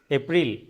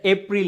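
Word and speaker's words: April: March March দেন এটাকে কি বলেন কি বলেন এপ্রিল কিন্তু এটা এপ্রিল না এটাকে বলতে হবে হচ্ছে এপ্রো এপ্রো ব্রিটিশ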